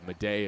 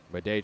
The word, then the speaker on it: Madej: Madej is spelled M-A-D-E-J. And Bleday is B-L-E-D-A-Y. So they're all spelled differently. Homophones, though.